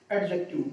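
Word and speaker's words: adjective: एडजेक्टिव। मैं आपको बता दूं, यहां पे जो डी वर्ड है ना, ये साइलेंट होता है। इसको हम बोलते समय इसकी वॉइस, इसकी जो साउंड है वो नहीं देते हैं।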